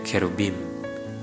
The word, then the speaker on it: cherubim: Dan ada cherubim, atau mirip dengan pronounce-nya cerebellum.